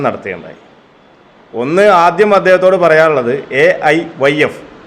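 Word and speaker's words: AIYF: ഒന്ന് ആദ്യം അദ്ദേഹത്തോട് പറയാനുള്ളത് എഐ വൈഎഫ് all India youth federation എന്ന് ഉച്ചാരണം നേരെ പഠിക്കാൻ പറയണം എവൈ എഫ്ഐ എന്നോ എന്തൊക്കെയാണ് അദ്ദേഹം പറയുന്നത് മനസ്സിലാകുന്നില്ല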